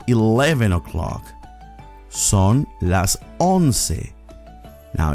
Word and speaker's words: once: more sophisticated siente it's 11 o'clock son las honse now it's a spell like the word once in english but it's pronounced on it's 12 o'clock solas dossi